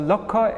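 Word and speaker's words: লক্ষ: one hundred thousand actually in bengali when you see they always pronounce it so lokko is a lack or one hundred thousand so chorashi lokka means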